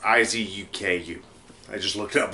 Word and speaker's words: Izuku: Or I think it's how it's pronounced. Izuku.